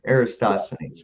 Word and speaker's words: Eratosthenes: I may be mispronouncing this. Eratosthenes, who in 276 to 194 BC carried out. Eratosthenes.